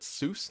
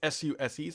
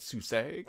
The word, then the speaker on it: SUSE: can never pronounce this I called it Seuss Linux it's suse some people call it susag some people call it Suzie whatever the heck you want to call it uh bash on Windows